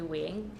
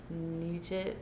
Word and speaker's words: Nguyen: school, and it was because people didn't know how to pronounce my last name, which is actually Nguyen.